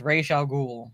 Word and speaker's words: Ra's al Ghul: Because I believe it's pronounced Raish Al Ghul, not Raz.